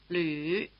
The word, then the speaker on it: 吕: For the last name, have your tongue bunched forward as if for E and your lips rounded as if for U. 李鲁吕 Again.